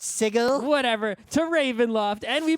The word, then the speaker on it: sigil: opened a portal from sigil to oh it's pronounced sigil whatever to Ravenloft and we mispronounce sigil god